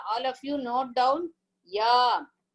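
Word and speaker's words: य: Ya is same like Chavarga. It is a Talavyaha. That is, Talavyaha means lower palate. With the lower jaw, this ya. When you pronounce ya, please pronounce and see all of you. Ya. Is the lower jaw elongating? Are you able to pronounce? Please someone pronounce and tell me whether it is done in that way.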